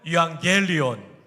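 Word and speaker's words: εὐαγγέλιον: 유안겔리온. 여러분 거의 신대원 수준으로 발음해 주셨다는 것을 아십니까?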